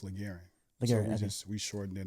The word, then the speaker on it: LaGaryne: me as uh my first name is pronounced laran we just we shortened